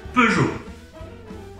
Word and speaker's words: Peugeot: friends and this is the right way to pronounce it peru peugeot last person